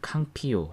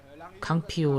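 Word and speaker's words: Campillo: 로벤 칸 필론 은 칸 필로 혹은 캉 피오 라고도 불리고 캉 pu 라고 부르는 쪽이 발음상 으로 더 맞다고 는 하는데 한국에 조문 영화관련 언론들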